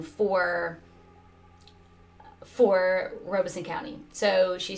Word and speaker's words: Robeson: accurate pronunciation for for robeson county so she said uh that locals call it robson county um it says she said if i want to sound like a local i should say robson county but a apparently